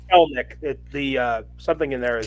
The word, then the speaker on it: Kelenic: It's Kelenic. The something in there is silent. The middle E is silent.